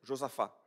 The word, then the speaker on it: Josaphat: On prononce ce là à la fin en français, Josaphat. Ah, c'est bien comme on prononce en portugais.